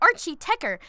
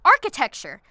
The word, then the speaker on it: Archie Techer: And why do you keep calling it Archie Tekker? It's pronounced architecture.